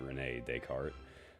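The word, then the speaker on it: René Descartes: Typically how I've heard it pronounced as Renee Decart. Uh the s is silent.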